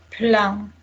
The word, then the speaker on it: plein: How do we pronounce it? Plein.